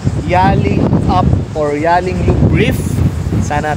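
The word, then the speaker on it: Yallingup: else so ias Pastor the correct pronounciation is yelling up yelling up yelling up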